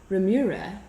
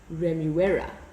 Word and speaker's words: Remuera: And then another example, Remura is actually Remuera.